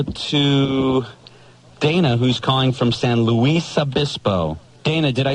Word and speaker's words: San Luis Obispo: go right now to Dana who's calling from San Luis Obispo Dana did I say it right what San Luis Obispo yeah what's up well he's a cranky huh